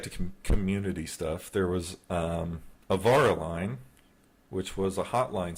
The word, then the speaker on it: Avara: Twister, how is Avara correctly pronounced in Finnish? Avara.